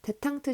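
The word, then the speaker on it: détente: 데탕트 시대라고 알죠? 이게 디텐트라는 단어를 데탕트라고 발음을 하는 건데 프랑스식으로 옛날에 구소련과 미국이 이렇게 전쟁을 벌였잖아요.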